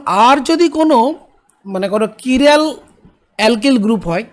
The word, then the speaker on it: chiral: এখন আর যদি কোনো মানে কোনো কিরাল অ্যালকিল গ্রুপ হয়, কিরাল মানে CHIRAL, কিরাল, অনেকে কিরাল এরকম উচ্চারণ করে, বা অ্যাসিমেট্রিক কার্বন যদি আরে থাকে, তাহলে কী হবে, একটা আমরা জানি ইনভার্সন অফ কনফিগারেশন হবে।